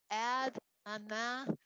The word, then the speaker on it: Adonai: Okay, so you can see it looks like Adonai. You say Adonai. Now, if that's mispronounced, because I'm not a fabulous Hebrew speaker,